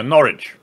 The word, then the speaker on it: Norwich: and he also said don't pronounce the W in Norwich yeah Norwich thank thank you for